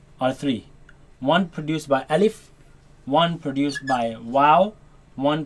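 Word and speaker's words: ألف: with the first lesson our first letter let's pronounce it together alif alif alif alif alif alif now this letter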